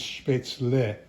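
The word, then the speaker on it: Spätzle: Uh in German everything is pronounced as it is written.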